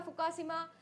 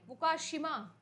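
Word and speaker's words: 福島: 2011 के अंदर आप लोगों का हुआ था फुका शिमा न्यूक्लियर डिजास्टर ठीक है फुका शिमा फुकुशिमा भाई बहुत डिफिकल्ट है प्रोनाउंस करना ये हुआ था अर्थक्वेक और सुनामी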